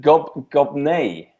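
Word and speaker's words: Gobnait: Gobnai. Gobnai, is it? Right. N-A-I-T. That's much more polite than the one I was thinking of. Was born in Ireland in the 5th or 6th century. Gobnai is Irish for Abigail, meaning brings joy.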